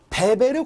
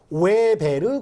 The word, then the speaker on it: 베베르: 그리고 5월 달에는 베베르 고무라각서, 다른 말로 웨베르 고무라각서라고도 이야기하는데 왜 이렇게 두 가지를 다 이야기하냐면 W가 영어로 이야기를 하면 웨베르라고 읽고 독일어식으로 발음을 하면 베베르라고 읽습니다.